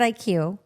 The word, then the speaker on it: ikuw: So Kevin, explain what, because people, we pronounce it IQ.